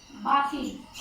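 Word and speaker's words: barking: बार्किंग. Okay, ये इसको हम बार्क नहीं बोलेंगे, आर साइलेंट है.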